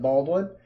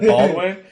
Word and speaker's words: Baldwin: Al Michaels makes me say it like it's Doug Baldwin, but he puts the emphasis on Baldwin. So that's how I always say it.